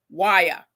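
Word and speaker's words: wya: And I pronounce it as Waya.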